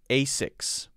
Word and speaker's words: Asics: nike now what about what about the asics i don't know if you guys know about that one that would be as i've always heard it said a6 a6 a6 and the other the